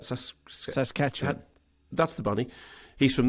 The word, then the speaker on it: Saskatchewan: monsanto percy was from sasquatch on how do you say that saskatchewan that's the bunny he's